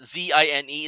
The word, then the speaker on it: zine: Zine is pronounced as zine like magazine.